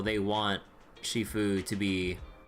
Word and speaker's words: Shifu: Yeah, I thought I thought it was Shiffue, right? Not Shifu. Am I crazy or Donna? Do you remember the last time we went to Luminina Square? I was there to pick up the custom accessories for your uniforms. Wait. Uh, it is Shifue.